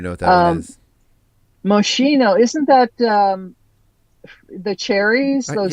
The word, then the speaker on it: Moschino: Okay, so the correct pronunciation is Moschino, not Moschino, which is what I just said.